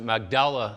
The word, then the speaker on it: Magdala: And that is also where they found what's referred to as the Magdala stone, or out there they kind of pronounce it Magdala stone.